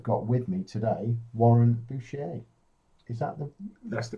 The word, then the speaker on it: Bouchier: And based on that little segue, I have got with me today Warren Bouchier. Is that That's the correct one. Is that how Yes. you pronounce it?